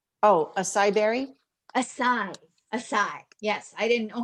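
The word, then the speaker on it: açaí: a ceo ace oh a cyber a size a sai yes i didn't know how to say that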